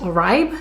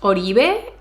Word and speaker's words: Oribe: an orbe product I actually kept calling it a ripe honestly I had to look it up but everybody in the comments was like it's pronounced orbe it's pronounced orbe it's actually the surname of the founder and